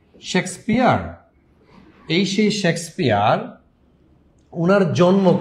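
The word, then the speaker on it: Shakespeare: ঠিক আছে, শেক্সপিয়ার, উচ্চারণটা ঠিক মতো করবেন, অনেকে উচ্চারণে উল্টাপাল্টা করে ফেলেন। শেক্সপিয়ার, এই সেই শেক্সপিয়ার, উনার জন্ম কবে?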